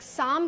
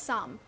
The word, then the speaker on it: साम: एक साम करके एक वर्ड होता है जिसकी स्पेलिंग होती है पी एस ए एल एम। तो उसमें एल भी साइलेंट है, पी भी साइलेंट है। सो इट्स जस्ट साम।